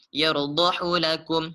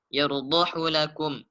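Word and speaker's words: يَرْضَهُ لَكُمْ: Ini tidak dibaca panjang menurut riwayat Hafiz. Jadi dia dibaca dengan pendek, tidak dipanjangkan. Yardahu lakum. Nah, cara bacanya langsung. Yardahu lakum.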